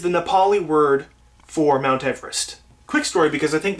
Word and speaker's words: Everest: They named it after George Everest, actually, is how you pronounce it properly, apparently.